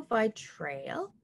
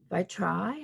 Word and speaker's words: vitrail: uh we're going to be using the pebio by trail by try i guess if you're french but i call it by trail that's how it's spelt v-i-t-r-a-i-l and the vitrail